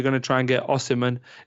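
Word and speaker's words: Osimhen: There's rumors you're going to try and get Osiman. Is it Osman? Help me again out on the pronunciation of the Osman. Yeah.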